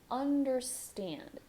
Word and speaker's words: understand: I understand. For understand, you're going to start with the as in animal, like Portuguese vowel sound. Bring your tongue up for the N. Understand. Understand. Last syllable is stressed.